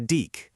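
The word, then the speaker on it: deque: The solution to this is a de. It's spelled d e qu q u e, but you say it like deck, as in a deck of cards.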